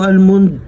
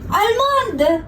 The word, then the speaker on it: almond: Anong almond? Almond! Almond! Alam mo yun? Yung chocolate na almond. Grabe, nag-ano pa siya, nag-accent pa siya. Almond. Tiyatanggal mo pa yung L ha. Silent L ka pa ha.